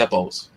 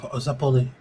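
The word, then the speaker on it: zeppole: Yeah, I think I was like 8 years old when I found that I was like mispronouncing Zeppelese wrong. Like I used to say Zeppos. What, the Little fucking Zeppoli.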